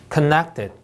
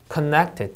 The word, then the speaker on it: connected: connected, connected 이음절 강세.